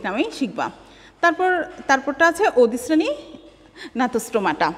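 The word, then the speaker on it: Gnathostomata: তারপরটা আছে অধিশ্রেণী ন্যাথোস্টোমাটা। এখানে যেহেতু আগে জি আছে, কিন্তু জি এর উচ্চারণটা হবে না, শুধুমাত্র ন্যাথোস্টোমাটাই হয়তো হবে।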